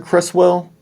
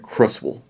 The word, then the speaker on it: Creswell: i think pronounce it cresswell but i grew up pronouncing it crustal i think other people pronounced it crust wool as well that w-e-l-l becomes a wool so crustal close well